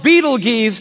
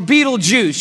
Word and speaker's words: Betelgeuse: It's called Betelgeuse or Betelgeuse. You can pick your pronunciation. I'm obviously going with Betelgeuse, and Betelgeuse is incredible.